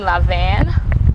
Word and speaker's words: Lavien: talk about your name lavan is that the right pronunciation it is okay and where did